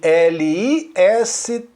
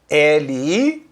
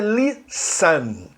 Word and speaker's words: listen: Escreve L-I-S-T-E-N. L-I-S-T-E-N. E a pronúncia dessa palavra é listen. Não é listen. Não fala o T.